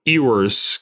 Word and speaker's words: Ewers: Yeah, I mean, either that, like, Drewski said he's been waiting for Ewers. I hate saying his name because it's so hard for me to pronounce. Ewers? Yeah. No, Ewers.